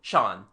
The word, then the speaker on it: Jean: The local pronunciation turns Jean into Shan.